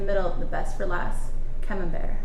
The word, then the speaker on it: camembert: the best for last camembert not camera break what was that okay